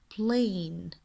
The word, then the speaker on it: plane: الآن البلين في عنا E silent letter، ونعني ب silent letter حرف يكتب ولا يلفظ. plane plane، وبعدها بتصير الكلمة واضحة مثل ما الأحرف عندي موجودة، بلفظها بربطها مع بعض وبكون كلمة plane.